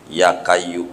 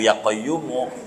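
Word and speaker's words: يا قيوم: karena amalan salah yakin ya kayu ya qayumu ya padahal ya Hayyu ya qayyumu bacanya aja salah ya kayu ya kayu ya kayu yaamp padahal ya qayumu di baca ya kayu jadi juga begitu nyampai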